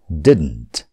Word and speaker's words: didn't: यसलाई धेरैले गलत उच्चारण गर्नुहुन्छ didn't भनेर. यो didn't होइन, यो हो didn't. भन्नुहोस् त, didn't. त्यो दोस्रो डलाई अलिकति मात्र उच्चारण गर्ने didn't. अझ भनौँ, त्यो दोस्रो डलाई उच्चारण नगरे पनि हुन्छ didn't भने पनि हुन्छ didn't.